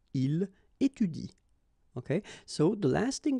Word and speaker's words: étudie: So in that case, if you want to pronounce it correctly, you should pronounce it like il étudie.